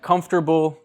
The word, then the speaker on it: comfortable: or something whatever but with english we took it out and so even though you still spell all of those syllables native speakers now say chocolate chocolate or like comfortable comfortable that's how it's spelled but native english speakers we say comfortable and this is like